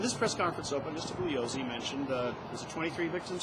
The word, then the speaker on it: Bugliosi: As long as I'm not saying It's not Bugliosi. Bugliosi, right? Yeah.